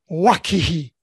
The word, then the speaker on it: Owakihi: The company I worked for most of my life was called Owakihi, actually pronounced Wakihi.